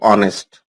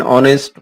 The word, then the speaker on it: honest: Look at the word honest. The pronunciation of this word begins with vowel sound and not consonant sound.